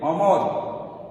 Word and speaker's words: অমর: এরপরে অমর, অমর, অমর, অমর, তাহলে ওর মতো হচ্ছে না, অর মতোই হচ্ছে।